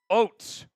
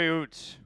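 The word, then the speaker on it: Ouzts: Robbie Oates. Tight end from Alabama. 2 tight ends. Interesting. 2 tight ends this draft. Let's tell you about Robbie. Robbie Oots. Oots is how it's said.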